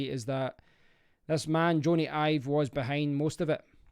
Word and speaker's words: Jony Ive: Jony Ive. I used to always call him John Ivey, so I've obviously got his name wrong.